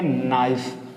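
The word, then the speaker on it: knife: देंगे आई समझ में यहां भी सेम कंडीशन है यानी एन से पहले के है और के हमारी क्या है जो वर्ड है उसका पहला लेटर है इसलिए यहां भी क्या करेंगे हम के को प्रोनाउंसिएट नहीं करेंगे तो उसे क्या बोलेंगे नाइफ क्या बोलेंगे इसको नाइफ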